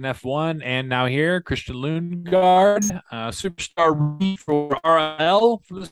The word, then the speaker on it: Lundgaard: Okay, so Lundgaard is in English, obviously. Yep. Which you apparently can't pronounce. Nope. And then Lundgaard in Danish. Oh, all right. Yeah. Christian Lundgaard. So there's no D at the end. Lundgaard. It's a silent D.